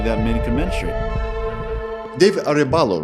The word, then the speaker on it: Arebalo: David Arebalo, right?